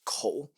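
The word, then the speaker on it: 口: So, it's a mouth and it's pronounced co.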